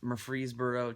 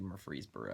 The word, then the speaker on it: Murfreesboro: It's Murfreesboro. Well, it's actually Murfreesboro. I'm gonna call it Murfreesboro. The locals pronounce it Murfreesboro. Doesn't look like it's pronounced Murfreesboro.